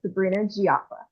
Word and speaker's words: Sabrina Jieafa: don't screw it up by saying your last name wrong. Thank you for asking. Um, hi, my name is Sabrina Gia.